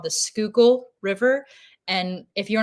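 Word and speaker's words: Schuylkill: depending upon where you're from and how you pronounce itely sure definely especially here so there's a river here in Philadelphia called the skookul river and if you're not from here it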